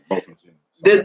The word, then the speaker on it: Botham Jean: Botham Jean. Botham John. Yeah, Botham Jean.